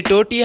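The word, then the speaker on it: tortilla: Friends, रोटी को English में टोर्टिया कहते हैं। जी हाँ, ये टोर्टिया ही लिखा हुआ है, टोर्टिया, जिसमें सम लेटर साइलेंट है।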